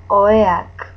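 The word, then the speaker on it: oheak: The H is mute, so you don't pronounce it. Oea. Then, if it's more than one, if it's plural, oeak, oeak, oeak.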